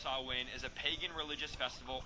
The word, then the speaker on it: Samhain: It's pronounced Samhain because it's not a Christian publication.